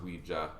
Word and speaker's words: Ouija: Ouija board? Yeah, but it's actually pronounced Ouija.